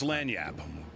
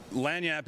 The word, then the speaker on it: lagniappe: What we call that is lagniappe. Lagniappe is a French term, means that little something extra, that 13th donut in a donut, in a dozen. Okay. Lagniappe.